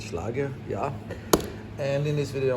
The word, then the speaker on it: Schlage: You can pronounce it any which way you like. I'm gonna go with Schlage, yeah.